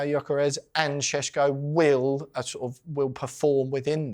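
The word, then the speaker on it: Gyökeres: from the Premier League with all the players pronouncing their own names. So I'll do my homework. And so it is Sesko and Gyokeres.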